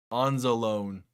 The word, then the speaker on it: Anzalone: Probably mispronounced that. But how was that not picked off? Alex Anzalone.